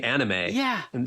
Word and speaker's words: anime: that what you're saying yeah anim is the correct pronunciation here in Japan because of the way they sound the vowels so but my whole life I've been saying anime so most people that's